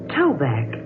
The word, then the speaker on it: Tobac: used it but tell me how do you spell it just like it sounds t-o-b-a-c duke yes laura spell your last name backwards toe-back spelled backwards is kevin my name i say